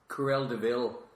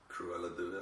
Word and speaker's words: Cruella de Vil: You should get one of those Cruella de Vil cigarette holders.